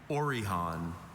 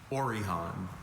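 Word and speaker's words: orihon: They're getting tired of us saying that, but the spellers are your word is orhan.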